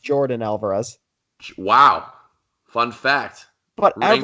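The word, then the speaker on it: Yordan Álvarez: just brought up its I found out virgin hours no it's pronounced Jordan Alvarez Wow fun fact what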